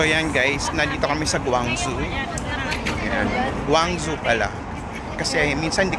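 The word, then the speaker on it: Guangzhou: Ngayon nandito na tayo sa Guangjo. So para pamiliar tayo nandito na tayo sa Guangjo. Yan. So yan guys, nandito kami sa Guangzu.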